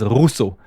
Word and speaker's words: Rousseau: So the differentiation between them, and then the R sound, like rrr, okay, the Rousseau. My last name is Rousseau.